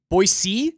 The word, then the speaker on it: Boise: but I know you're capable of saying it correctly boy C boy c yeah he can do